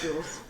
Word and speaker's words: Jhules: I know it's not like how Triton names are supposed to be pronounced, because the tradition, at least from what my mom said, is that the males have like 2 syllables, right? Oh, so it'd be like Jahuls. Or Jules was her idea, but as baby me couldn't handle that, so so it's just Jules.